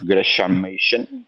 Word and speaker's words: Gresham Machen: Eh, es muy interesante, pues, ¿cómo es que se pronuncia el nombre de esta persona? Ajá. Gresham Machen.